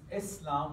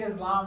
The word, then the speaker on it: Islam: Talking about Islam, and it's pronounced Islam with a soft S. If you say Islam, that's okay too, but now after this, you're